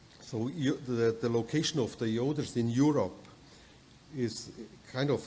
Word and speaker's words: Joder: pretty logical that in German we call it Yoder you know my name is Yoder and if you want to pronounce it the same way in English you